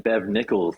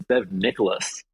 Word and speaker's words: Bev Nicholas: been in trouble before by saying Bev Nichols it's Bev Nicholas oh is that how it's